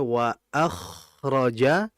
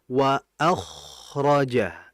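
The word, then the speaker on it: وَأَخْرَجَتِ: diperhatikan tadi wa akhroja ko itu hurufnya tebal he tadi itu bacanya wa akhroja ngalirnya sudah benar masyaallah ngalirnya sudah betul masyaallah iya tinggal tebalnya saja bagaimana cara menebalkan hurufnya tinggal dinaikkan pangkal lidah ya tadi kan bacanya wa akhraja sehingga yang harus diperhatikan tinggal ditebalkan menjadi wa akhraja.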